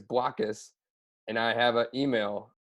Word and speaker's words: Blokus: following indication for you you pronounce it with a soft o as in black but many customers seem